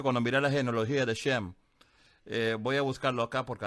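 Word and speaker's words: שם: No, es que Shem es la pronunciación hebreica.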